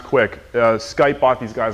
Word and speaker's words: Qik: this one called uh it's spelled qik but it's pronounced quick uh skype bought these